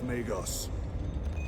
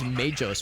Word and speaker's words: Magos: Spare me the insults, Magos. Statement error. Insults. I engage. I always thought it was Majos with a soft G. Like magic, Majos, Magi. Transmitter.